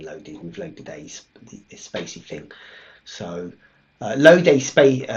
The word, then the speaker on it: spaCy: stick in the word this is how you pronounce it officially I'm going to pronounce it this way okay so Spacey is the right terminal there you go Spacey Spacey right so I'm saying it right just in case I was saying it wrong I didn't have to